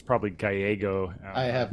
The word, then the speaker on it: Gallego: I think it's probably Gallego. I have not. Yeah, Gallego. No. Don't think so. I'm sure it's pronounced Gallego, but because it was Sacramento in the late 70s, people Anglicized, yeah.